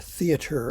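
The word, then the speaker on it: theatre: use the term here theater of war that's the english pronunciation accent on the first syllable spell t-h-e-t-r-e this in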